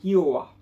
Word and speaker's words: Hiro'a: de la collection cd j'avais mal prononcé j'avais dit le wa alors que ce n'était pas elle mais bien à eux donc c'est hiro'a voilà mais qui fuit